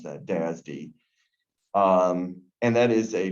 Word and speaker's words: DASD: That's how you would pronounce that, DASD.